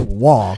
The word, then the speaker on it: Roy: That's that's the one that looks like Roy and it's pronounced Wah.